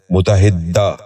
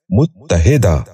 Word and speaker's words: متحدہ: غور سے سنیے، متمول۔ تیسرا لفظ ہے متحدہ۔ یہ غلط تلفظ ہے، درست تلفظ ہے متحدہ۔ دوبارہ سنیے، متحدہ۔ بچوں آپ بھی غور سے سنیے، متحدہ۔ چوتھا لفظ ہے متفقہ۔